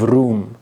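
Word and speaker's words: Rum: as the sultanate of room and room is just how they pronounced Rome in their language they saw themselves as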